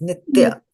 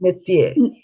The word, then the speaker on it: नित्य: I don't know why today, but you are always pronouncing the A as a E. It's nitya, not nitye.